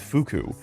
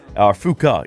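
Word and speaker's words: Fuuka: with Yukuri, or we can hang out with Fuku. Fuka, even. I get her name wrong constantly.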